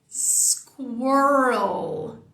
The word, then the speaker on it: squirrel: O primeiro desafio dela é começar com um S no início da palavra.